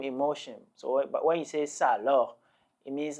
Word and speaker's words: ça alors: look at the pronunciation you will know that we have two vowels or one vowel following another vowel sa okay and then aloh sometimes you are tempted to sort of merge the two and then say something